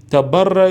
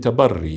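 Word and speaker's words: تبرّي: So now, even the whole issue of tabarra and tawalla, okay, the right pronunciation is tawalli and tabarri, yeah? But we're using the same, which has become common, tawalla and tabarra, yeah?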